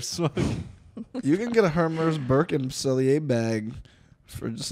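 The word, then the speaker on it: Hermès: Hermes. Yeah, that's how you got to say it. Some people say Hermes. Hermes. Then you know they're a loser.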